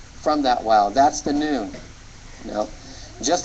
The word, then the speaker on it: nun: the Hebrew alphabet is noon and it is the n Sound in Hebrew the n as in now or n and this